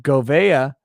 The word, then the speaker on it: Gouveia: he's great joel reese says it's pronounced g uh govea robert gouveia oh what